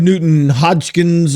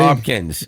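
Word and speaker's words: Nugent-Hopkins: Ted Nugent Hodgkins, or how you pronounce his name.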